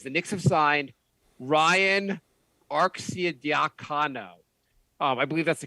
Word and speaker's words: Arcidiacono: The Knicks have signed Ryan Arcidiacono. I believe that's the correct way to pronounce his last name.